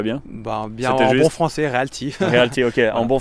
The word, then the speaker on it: Realty: Et tu as une manière de le prononcer, toi qui va bien? Bien en bon français, Realty.